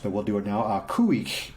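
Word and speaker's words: Khu.éex': Kuik is how it's pronounced, and it basically, the album is called Wooch.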